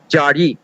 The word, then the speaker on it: Jari: Z cannot be pronounced in Bengali, so Zari has been replaced with Jari, Jari.